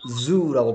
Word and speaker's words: zoo: 얘는 주가 아니고 zoo라고 발음해야 돼.